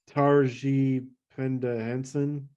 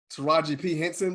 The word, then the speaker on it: Taraji P. Henson: Oh, it's got Russell Brand, Danny Trejo, Jean-Claude Van Damme, Lucy Lawless, Dolph Lundgren, Michelle Yeoh, Taraji Penda Henson. Taraji P. Henson, bro.